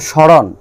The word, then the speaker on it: স্মরণ: যেমন মফলা যদি শব্দের শুরুতে বসে অর্থাৎ প্রথম বর্ণের সঙ্গে বসে তাহলে ময়ের উচ্চারণ হবে না।